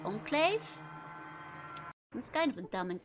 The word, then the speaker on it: Enclave: It's pronounced enclave.